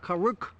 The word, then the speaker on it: Karuk: the name of this tribe I want to pronounce it correctly okay it's a kuk tribe karuk tribe kuk tribe yeah and are there hundreds